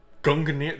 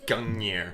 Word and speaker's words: Gungnir: Gungnir. So that's how you say it. I've always pronounced that like Gungnir.